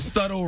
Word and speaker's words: subtle: or erog well listen if you want me to pronounce the word subtle right then take the be out hey all